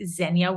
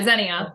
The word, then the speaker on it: Zenia: fitness coach today I'm joined with the lovely zenya did I pronounce that right by the way you did yeah Zenia perfect Zenia there cool because there's nothing worse